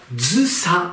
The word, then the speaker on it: 従者: 人物ですがまず従者と書いて古文単語はずさと読むので読みの